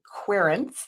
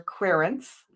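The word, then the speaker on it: querent: We're the querance. That's how you say it in tarot spread lingo. We're quirants.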